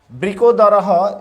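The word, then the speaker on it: বৃকোদরঃ: আর বৃকোদরহ, এই বিসর্গকে হ উচ্চারণ করতে হয়। এটা পূর্ববর্তী শ্লোকে আলোচনা করা হয়েছে। সঞ্জয় যুজুৎসব, সেরকম উচ্চারণ হবে বিকোদরহ।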